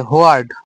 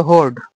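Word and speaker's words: hoard: একটা কি আছে হোয়ার্ড বা হোর্ড, উচ্চারণ হবে হোর্ড, আর এটা কি হোর্ড, এটা নাউন প্লাস ভার্ব দুটাই হয়, এটা শুধু নাউন হয়।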